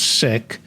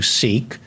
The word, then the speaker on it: Sikh: life you were a Sikh it's pronounced sick in among the punjabis so but we'll call you seek for the American audience that you were born